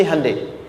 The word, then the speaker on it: Hyundai: Sehingga ketika di sana bikin Honda, sini Handeai. Hyundai kan dibacanya Hande ya kan?